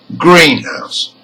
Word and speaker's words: greenhouse: Now, with compound words, each part is an independent word, and usually the stress is on the first part. Let's listen to 2 examples. Number 1, greenhouse.